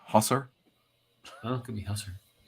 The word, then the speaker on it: Hussar: remains to be seen I believe it's pronounced Husser well it could be